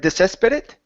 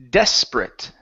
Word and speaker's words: desperate: very good um here instead of desesperate it's desperate desperate desperate very nice um